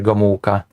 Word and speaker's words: Gomułka: Oh, actually, he pronounced it pretty well here, Gomułka.